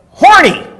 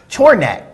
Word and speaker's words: Chorniak: MVP, Mike Horny. Oh No, that's not how you pronounce it. Mike Chorniak. Chorniak.